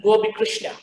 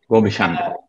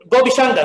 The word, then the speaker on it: Gobishangar: And he is none other than Dr. Srikanthan Gobikrishna. Gobishangar. Gobishangar, sorry, I mispronounced.